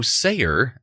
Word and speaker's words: Sayer: special guest star leo sayer and star trek original episode patterns of force i don't know if it's pronounced sayer but then immediately scooter just knocks it out there and says say here so there we go